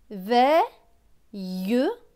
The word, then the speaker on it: veillera: V avec E-I-L-L-E. E-I-L-L-E se prononce eille. Donc V et eille, veille. R et A, rat. Donc ce mot va se lire veillera. On va bien prononcer le E ici.